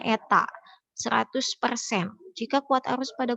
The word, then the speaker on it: eta: p p kapital ya dan efisiensi Eta itu dibacanya Eta 100% jika kuat arus pada kumparan sekunder 2